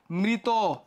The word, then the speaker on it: মৃত: মৃত, কি যুক্ত আছে শেষে, ইতো যুক্ত আছে, উচ্চারণটা এই যে ওকার হয়ে গেছে।